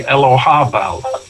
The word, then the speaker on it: Elagabal: It could be Elohabal. Yeah. And with a strong H sound, ha, which they couldn't pronounce in Latin. Yeah. So they transcribed it as a G, but it could be Elohabel. Elagabal is how it's written